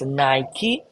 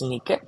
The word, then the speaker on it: Nike: in the Greek language it's called Nike today most of us will pronounce as Nike but it's wrong it's Nique Romans called Victoria symbol